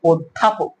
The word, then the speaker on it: অধ্যাপক: সঠিক উচ্চারণ কিন্তু হবে অধ্যাপক সঠিক উচ্চারণ কি হবে অধ্যাপক কারণ কি এইযে শব্দের প্রথমে অধ আছে তারপরে কি আছে জফলা আছে যার কারণে আত্ম অধ্যায় উচ্চারণটা কি হয়েছে অকারান্ত হয়ে গেছে অধ্যাপক উচ্চারণটা কি হবে